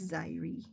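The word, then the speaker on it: Xyri: So, like, don't feel weird about Ziri. I assume that's how you would pronounce the one that you typed out. But it's Zaire.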